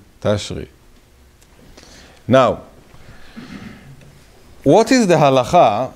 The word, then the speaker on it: Tishrei: By the way, the right way to say Tashri, like the Bukharian. This is the real name. Tishrei is a Israeli changing. Tashri.